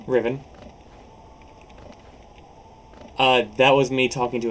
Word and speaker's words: Rhivan: Rhivan.